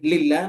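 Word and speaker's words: لله: Kalau tulisannya begini ini bacanya lillah ya.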